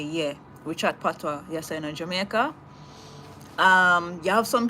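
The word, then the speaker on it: patois: It's not Partio, it's PWA. It's spelled P A T O I S, but it's PWA. Yeah, we call it PWA.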